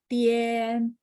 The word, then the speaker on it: 点: Tian itu vokalnya adalah te sama IAN, benar nggak? D bacanya te, ien, tien, tapi nada 3, tien, gitu ya. Masih ingat ya cara spelling ya. Nah, jadi IAN itu kita bacanya IEN.